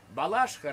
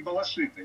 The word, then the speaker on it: Балашиха: По-моему, ударение все-таки Балашиха, нет? До конца 80-х было Балашиха, а сейчас, по-моему, говорят Балашиха.